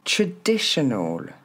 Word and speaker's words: traditional: international le deuxième traditional regardez c'est pas un a au début et ensuite c'est le son e traditional encore une fois traditional